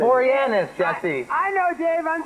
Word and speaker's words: Boreanaz: It's Boreanaz, Jesse. I know, Dave. I'm just joshing you.